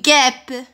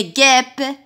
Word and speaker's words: guêpe: Une guêpe. Une guêpe. Est-ce que vous entendez le son E? Oui, très bien. On entend le son E. S'écrit E accent chapeau.